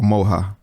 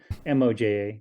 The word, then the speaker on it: Moja: So the four turtles we have Odin, is it Moja or Moha? Moja. I mean, I think you can pronounce it, but it's Moja.